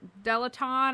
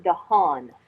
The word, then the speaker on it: DeHaan: So can you tell us how, is it Dr. Delaton? Am I pronouncing that correctly? It's actually Dr. Reuben DeHaan.